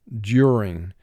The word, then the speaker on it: during: First syllable is due. 2 sounds. D, U. Second syllable, ring, 3 sounds. R, I, ng. Do ring, mark the word. Do ring. And we say it in conversation, during. Our final word is siren.